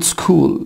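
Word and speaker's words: school: مثلا حبايبي شكل كلمه سكول سكول سكول سكول يعني مدرسه يبقى هنا السي اللي نطقت اما الاتش حبايبي متنطقتش يبقى هنا سكول اتش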